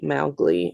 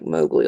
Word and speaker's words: Mowgli: Um, it was the pronunciation was supposed to be mowgly instead. It was supposed to rhyme with cow, not go like mowy like we say it now.